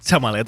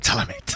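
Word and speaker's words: Chalamet: molt de toc que diguis xamalet en comptes de xalamet.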